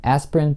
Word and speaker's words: aspirin: Aspirin произносится aspirin без гласного звука.